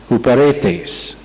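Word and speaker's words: ὑπηρέτης: Tenemos una palabra más, que es huperetes, U-P, pero el U se pronuncia como tiene H, entonces H-U-P-E-R-E-T-I-S. Huperetes.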